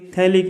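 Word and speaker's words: phthalic: First COOH एंड COOH, इसे बोलेंगे थैलिक acid. Spelling थोड़ी डिफरेंट है, यहाँ पर PH साइलेंट है, थैलिक नहीं बोलेंगे, हम इसको बोलेंगे थैलिक एसिड।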